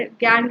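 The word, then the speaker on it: gangue: Pronouns are गैंग, ठीक है? Spelling में इसके यू भी आता है, बट गैंग इसको प्रोनाउंस करते हैं.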